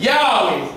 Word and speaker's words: Yahweh: The pronunciation is Yahshua. Yahweh.